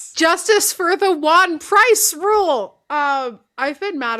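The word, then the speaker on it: Ejuan Price: Um Pitt had a defensive end named Wan Price, spelled with an E, the E is silent, just go with me.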